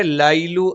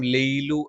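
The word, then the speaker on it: لَيْلُ: ഇവിടെ ലൈലു എന്നുള്ളതിന് പകരം ലെയ്ലു എന്ന് വരാനുള്ള സാധ്യതയുണ്ട്. അതും തെറ്റായ ഉച്ചാരണമാണ്.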